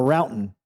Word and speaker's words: Roughton: Paul Roughton. Hey, Now I'm back. Yep. Now I'm questioning it. Okay. It's like crouton Yeah, that's without the C, but that's not how you pronounce it.